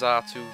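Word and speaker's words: Xatu: destroy his last Zatu. It's spelled weird, that. Zatu. It's weird how English, like, it's spelled with Z, not X, X-R-2.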